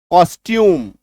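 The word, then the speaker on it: costume: And that is कॉस्ट्यूम। है ना? यहां पे ट ही उच्चारण होगा। च नहीं होगा।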